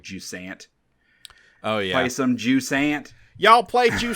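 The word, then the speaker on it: Jusant: this game and how you as the French taker Pro pronouncing this game and I just wanted to an know you and always pronounce it like ju Sant oh yeah play some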